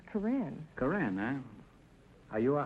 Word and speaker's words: Corinne: Is that the way you pronounce it, Corinne? No, Groucho, it's Corinne.